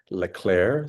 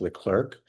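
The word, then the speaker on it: Leclerc: Uh and it was a result of a presidential commission by President uh Lelair, sometimes pronounced L Clerk and it was a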